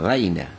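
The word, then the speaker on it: رَاعِنَا: রাইনা এখানে বলছে রাইনা, রাইনা এখানে আরবিতে হবে রাইনা।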